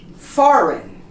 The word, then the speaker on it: foreign: Also, for G, all of these words that end in GN, the G is also silent, such as sign, foreign, design, resign, and how about champagne? We don't pronounce the G. Sign, foreign, design, resign, and champagne. You noticed? All of the words have GN next to each other, both consonants, and the G becomes silent.